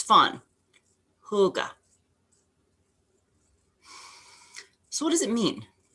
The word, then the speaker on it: hygge: so let's start start with the pronunciation hygge say it a couple times it's fun hygge so what does it